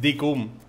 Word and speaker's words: Dinkum: Decium. ¿Cómo? Cada día lo pronuncio diferente. Es que vaya nombre le ha puesto, chaval. No podía haberlo... Decum. Es Decum. O sea, pronuncia cum.